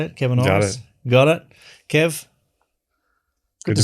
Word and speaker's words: Kevin Orosz: Kevin Orosz. That's how you say it, Kevin Orosz?